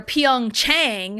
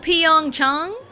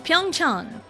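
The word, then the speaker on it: Pyeongchang: but then you get the English speakers that are Pong Chang and it's like no, why is that the default? I know like the long a sound is a, but like dude when you're when you know it's Korean, find like the Korean pronunciation and it's not that hard. Even if you go Pong Chong, it's still fairly correct. cuz Pyong Chong, it's Pyongch and I had shared a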